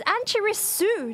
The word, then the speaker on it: Annchirisu: It's Annchirisu, not Shu. Where are you getting the H from? There's a H at the chi part, but not the su part.